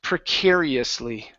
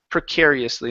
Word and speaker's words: precariously: word here is pronounced precariously precariously it's a big one precariously uhuh with the stress on care precare precariously precariously precarious